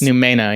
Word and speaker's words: Numena: either, but is it Numena? You can do it either Numena or Numena. It's Numena, yeah.